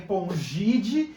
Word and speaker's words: Pongidae: Se escreve Pongidae, se escreve Hominidae, mas se lê Pongide e Hominide.